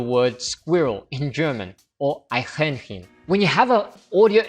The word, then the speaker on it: Eichhörnchen: it, at first glance you might think it's pronounced as I Chi Horn Chen. You then look up the meaning of that word in one of the resources that I mentioned, and you discover that this word means squirrel, but actually you pronounced it wrong. It's actually pronounced like this. Eichhörnchen.